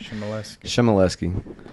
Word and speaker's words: Chmielewski: It's just, you get the general thing, don't pronounce the W, and it'll be good, you know what I mean? You read it, it's crazy, but Chmielewski.